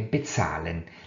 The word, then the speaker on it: bezahlen: Das Präfix wird beim Sprechen nicht betont. Non dovremo nemmeno accentuare il prefisso parlando. Quindi dovremmo dire bezahlen. L'accento cade quindi sulla seconda parte del verbo e non sul prefisso.